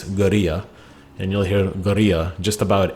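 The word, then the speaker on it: guerrilla: the word gorilla but pronounced in the native spanish is geria and you'll hear just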